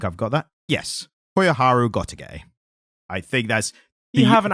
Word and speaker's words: Gotouge: Yes, Koyoharu Gotouge. I think that's... You haven't anglicised that too much. That's the overly anglicised pronunciation of it.